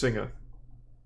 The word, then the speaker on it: Singa: It is pronounced Singa. I knew it.